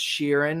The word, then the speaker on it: Chiron: for Chiron and yes even though in the show it's pronounced Sheeran because I know some of